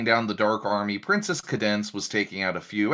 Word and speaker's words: Cadance: they spell her name c-a-d-e-n-c-e yeah yeah but yeah her name is pronounced cadence i don't know yeah